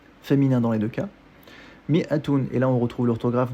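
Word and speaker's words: مائة: Mi'atun, traditionnellement, on l'écrit mi, avec une kasra sous le mim, et ensuite un alif, qui est juste orthographique et qui n'a pas de rôle dans la prononciation du mot.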